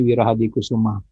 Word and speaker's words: Wirahadikusuma: Mohon maaf tulisannya, itu bacanya Wirahadikusuma.